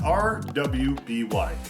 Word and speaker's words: RWBY: It's pronounced RWBY.